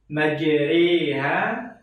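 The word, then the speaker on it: مَجْرٰىهَا: Majriha menjadi seperti bacaan sate.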